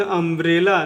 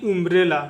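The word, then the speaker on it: umbrella: इसको पढ़ेंगे अम्ब्रेला, ना कि उम्ब्रेला, ठीक है। उम्ब्रेला नहीं पढ़ेंगे, इसको अम्ब्रेला पढ़ेंगे।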